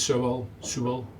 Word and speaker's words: Sewell: Rufus Sewell.